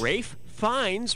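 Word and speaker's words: Ralph Fiennes: of like safe funds rafe fines rhymes with safe pines yeah he was great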